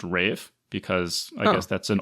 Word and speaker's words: Ralph: So the actor's name is spelled Ralph, but it's pronounced Rafe because I guess that's an old it's Welsh pronunciation, Welsh pronunciation or Welsh.